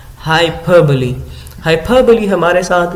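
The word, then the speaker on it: hyperbole: Literary device use की है और इस लिटरेरी डिवाइस का नाम है हाइपरबली. What is the pronunciation? Pronunciation of this word is हाइपरबली. हाइपरबली.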